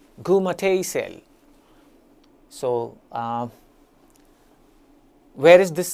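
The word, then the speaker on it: Goormaghtigh: Well, first of all, how is it pronounced? I'll try my best. It's called as Gumati cell. Gumati cell.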